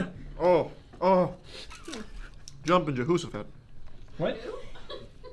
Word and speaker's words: Jehoshaphat: Oh, Jehosaphat. Oh, is it Jehoshaphat? Yeah, but maybe said it wrong.